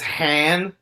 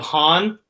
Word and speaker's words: Han: where they explain why Lando says hand instead of Han when he first meets